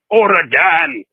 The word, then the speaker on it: Oregon: I said it wrong. I always say Oregon wrong. Oregon. OREGON. OREGON. on Saturday, Saturday, November 29th for allegedly violating his probation from his prior domestic violence conviction.